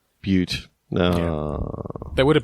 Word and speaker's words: Butte: Apparently, it's pronounced Butte. Butte.